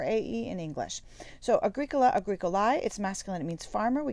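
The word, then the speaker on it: agricolae: first one is agricola agrico lai if you remember from your diphthongs a e in english we pronounce that with an i sound like an a long eye a greek a lie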